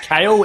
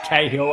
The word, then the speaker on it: Cahill: Could be pronounced Kale. In fact, it is Cahill after checking with him himself.